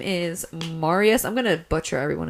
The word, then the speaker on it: Marius: I'm like, no, I think that it's Marius. You just say it like that.